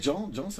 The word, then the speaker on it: Dhjan: Et Jean, c'est un peu, c'est, mais il y a le N. En plus, tu sais, Ouais. Alors, Jean, ça s'écrit D comme Daniel, H comme Henri, J comme Joël, A comme André et N comme Noémie. Donc voilà, donc finalement, c'est